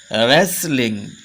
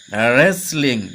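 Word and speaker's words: wrestling: এল আই এনজি রেস্টলিং রেসলিং রেসলিং এখানে দেখা যাচ্ছে এই ডাবলিউ আর আর এই যে এই টি এর উচ্চারণটা হলো না এরকম করে আমরা এখানে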